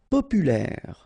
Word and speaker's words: populaire: Populaire. Final E not pronounced, so populaire.